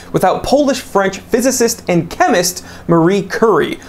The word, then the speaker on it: Marie Curie: Polish-French physicist and chemist Marie Curie. I've also heard her name pronounced Mary Curie. I'm sure people will correct me in the comment section regardless of how I say it.